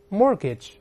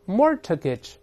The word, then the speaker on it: mortgage: 我们大声来读一下 mortgage mortgage，注意不要读成 mortgage，中间这个字母 t 是不发音的，这 t here is silent。